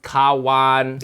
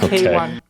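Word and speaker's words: Kawan: Yeah, it pronounced Kawwan. Not Kwan. Kawwan mean friend in Malay.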